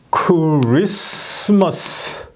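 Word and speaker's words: Christmas: 우리 저 영어 훈민정음에서 이거를 크리스머스 이렇게 발음하죠 크리스마스 크리스마스 이렇게 여기에 미움이 있잖아요 여기에 있어야 할 미음이 여기에 있는이 미음이 앞으로 와서 여기로 이제 치환이 되는 거죠 이게 예 이렇게 발음을 해야 되는 거죠 예 그래서 아 이제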